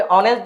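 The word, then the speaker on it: honest: अब यहाँ पे ऑनेस्ट जो है ऑ से शुरू होता है, और के लिए हम लगा देंगे आर्टिकल एन। क्लियर?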